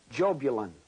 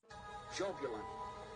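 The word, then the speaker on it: Jahbulon: The name is Jobulon. Jobulon. It is a combination of three words, Jehovah, Baal, and Osiris, the Egyptian sun god. Yah, Bel, On.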